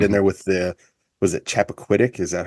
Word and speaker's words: Chappaquiddick: Almost like the Zapruder film a little bit added in there with was it Chappaquiddick?